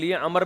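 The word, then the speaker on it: عمرو: इसलिए, अरब लोग 'अम्र' में 'रा' के बाद 'वाव' लगाते थे ताकि इसे 'उमर' से अलग किया जा सके। इस 'वाव' का उच्चारण नहीं किया जाता है। इसका अर्थ केवल यह दर्शाना है कि यह 'उमर' नहीं बल्कि 'अम्र' है।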